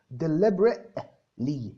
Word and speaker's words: deliberately: التي اللي فيها دي ما بتتنطقش يا مروة. deliberately، بس طبعا ما بتقفيش قوي على التي، انت ما تتكيش على نفسك.